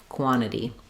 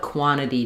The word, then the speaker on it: quantity: t of the nt, it's going to sound like quant and then this t becomes more of a flap. Um so you have quantity quantity what quantity do you want? Um or what quantity do you want? So either two true t's t or if you drop this t which a lot of people do then this t becomes a flap quantity.